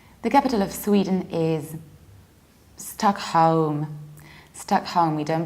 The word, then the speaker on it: Stockholm: to Scandinavia Sweden the capital of Sweden is stuck home stuck home we don't pronounce it with a show we don't say star and I would skip left we don't say Stockholm but we say stuck home I home like